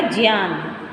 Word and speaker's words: ज्ञान: ठीक है, तो बनेगा ज्ञान, अज्ञान, यज्ञ। ठीक है, शुद्ध रूप क्या है? शुद्ध उच्चारण क्या है? ज्ञ, जय, य और ए, ज्ञान।